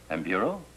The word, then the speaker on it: Nburu: Mr., how do you pronounce the name, N-B-U-R-U? Nburu? Nburu, Your Honor.